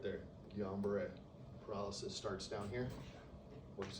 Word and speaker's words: Guillain-Barré: Browns beret? Guillain-Barré, Guillan.